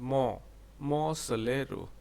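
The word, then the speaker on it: Monte Solaro: Actually, its pronunciation is Mo Solero.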